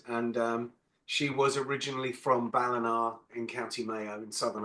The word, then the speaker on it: Ballina: Ballina.